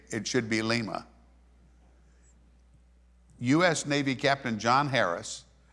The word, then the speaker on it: Lima: say it should be Lima US Navy Captain John Harris brought them from Peru in 1824 so they really should be called Lima like Lima Peru yeah but that's where